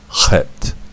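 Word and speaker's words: חית: Numerical equivalent of 8, and it is, the sound is het, like that.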